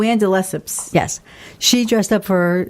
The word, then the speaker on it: de Lesseps: it the Lepus let's never say correctly and de Lesseps yes she dressed up for Diana Ross as